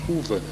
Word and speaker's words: Uwe: Uwe. What? Uwe, like Hoover.